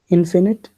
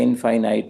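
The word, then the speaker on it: infinite: इन्फिनिट इनफिनिट। उसे इनफाइनाइट नहीं कहते हैं।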